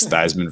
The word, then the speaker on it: Theismann: Heisman campaign for him, so we're going to change the pronunciation to Joe Theismann, and it was Theismann for Heisman, and the rest is history.